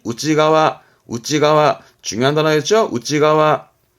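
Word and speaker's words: 内側: 측이라고 하지만 일본어는 안쪽 발음이 그죠 안쪽 그래서 발음이 우지가와 우지가와 중요한 단어였고 우지가와 신 내잖아요 몸 아니라고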